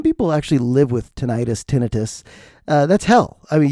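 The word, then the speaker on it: tinnitus: I've had tonitis. And you're like, it's pronounced tinitus. And I'm like, I'll call it tenitis.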